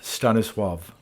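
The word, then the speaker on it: Stanisław: ago with the title The W is treated as if a V and the L is treated as if a w the name Stanis swav literally means one who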